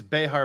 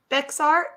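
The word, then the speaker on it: Bexar: gonna do some history lessons today wait wow vexart vexar County right yeah but it's pronounced Behar like Mexico Behar is my brother-in-law he is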